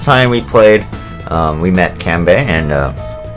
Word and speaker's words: Kanbei: So if we remember, last time we played, we met Kanbei, and or Kanbei if you want to go actual pronunciation.